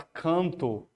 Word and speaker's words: canto: A palavra canto, né? Canto. Você está pronunciando 4 fonemas. Esse AN, ele está com um único som.